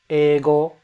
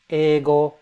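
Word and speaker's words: 英語: Eigo, English. Eigo. It's not eigo, it's eigo. You extend the E.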